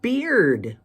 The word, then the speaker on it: beard: you add the D it makes the b e a r change pronunciation from bear with a long a to beard with a long e crazy isn't it then